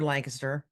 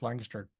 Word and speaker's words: Lancaster: good to hear somebody else pronounce Lancaster properly. Yeah. Yeah. Not the California way. How do they say Lancaster there? They say Lancaster.